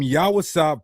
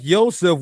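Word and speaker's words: יוסף: Lashuan Quadash proponents treat every v like it must sound W. But that's not how the language works. In words like Yoseph, we see the va functioning as a vowel carrier given an O sound, not creating a new Y syllable.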